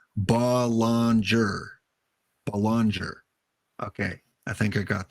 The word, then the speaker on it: Belanger: job of pronouncing it so balanger Belanger okay so Joe Morgan